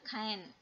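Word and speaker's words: khaen: adalah alat musik tradisional kain ya Khan gitu bacanya nah ternyata kain ini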